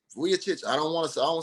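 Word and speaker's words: Vučević: I want to say Vucevic. I don't want to say his name wrong because it's Vucevic.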